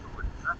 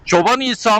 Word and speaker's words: Çoban İsa: Sol taraf Aşağı Çobanisa, sağ taraf Yukarı Çobanisa. Çoban İsa mı Çoban İsa mı? Çoban İsa He. aslında. Ama hızlı telaffuzda Çobanisa diye geçiyor. Gerçek adı Çoban İsa.